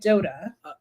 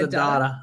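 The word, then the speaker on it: Addotta: Dream by Kip and Dota. I thought it was Adada. Adada. Yeah. That's how Dr. Demento pronounced it.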